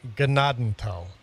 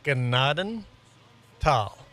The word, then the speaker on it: Gnadenthal: And yes, it's pronounced Gennadal. Two separate words. Gennaden tal.